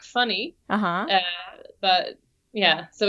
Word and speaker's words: Fanny: in yeah yeah yeah it's more like funny but yeah so it's